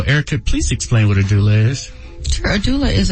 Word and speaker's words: doula: It's a doula.